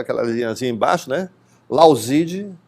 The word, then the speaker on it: Lauzid: Lauzide, se escreve Lauzid, de mudo, né?